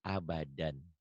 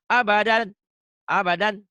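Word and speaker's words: أبدا: Abadan ini kalau dihentikan dibacanya satu. Jadi abada. Ini namanya mad aiwad. Dua fathah dibaca satu jika dihentikan. Abadan, abada. Itu namanya mad aiwad. Jadi nggak boleh baca ini abadan, abadan. Nggak boleh. Abada.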